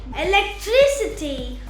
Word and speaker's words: electricity: in ity or ity, we put the stress or place the accent before the syllable. For example, ability, Ability, capacity, capacity, generosity, generosity, sensibility, sensibility, charity, charity, clarity, clarity, trinity, trinity, electricity, electricity, university, university, speciality.